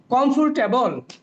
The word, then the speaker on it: comfortable: 3 syllable. 3 syllable. Comfortable. Comfortable. Comfortable. Come. Yes. Yes. This is comf. Oh no. This is okay, just a minute. Comfortable. R is silent.